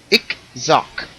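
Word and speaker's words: ICH-XOC: I will spell it, and then I will pronounce it for you. Properly spelled. Let me see. Unfortunately, I had to write this down. ICH hyphen XOC. Ickzock.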